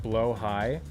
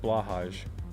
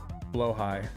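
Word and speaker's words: Blåhaj: just throwing that out there his name is pronounced blo High I like blahaj but since you know it is the trans shark um maybe I should properly pronounce their name blo High name just means shark oh nice the Ikea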